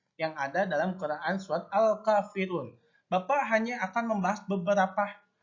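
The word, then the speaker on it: الكافرون: Jadi al-kafirun, bukan akfa, tapi al-kafirun, bukan akafirun, bukan akka, tapi al-kafirun.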